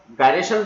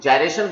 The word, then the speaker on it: gyration: तो dear students, कुछ लोग इसे रेडियस ऑफ गायरेशन बोलते हैं, कुछ लोग जायरेशन बोलते हैं। तो प्रोनाउंसिएशन है डिफरेंट, इंग्लिश में डिफरेंट प्रोनाउंसिएशन मिलता है।